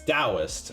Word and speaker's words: Taoist: get a uh taoist it's taoist i knew okay i knew it was not with a t uh and actually i